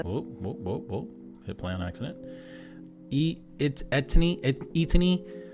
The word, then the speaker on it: ETINI: ETINI, I believe is how you pronounce the channel name.